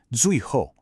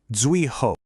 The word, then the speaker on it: 最后: Unlike the flowing tones of 然后, here we have two strong, sharp, falling fourth tones. 最后.